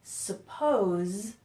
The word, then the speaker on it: suppose: first thing is that there's a pronunciation difference between suppose which ends with a Z sound suppose and supposed to do so in their spell very similarly but in this one the S sounds like a Z and in this one the S sounds like an S so we have suppose